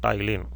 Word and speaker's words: ptyalin: P is silent, ptyalin.